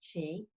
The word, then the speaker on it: Qi: for energy which is Qi a lot of people don't know how to pronounce it but it's cheap and it's really a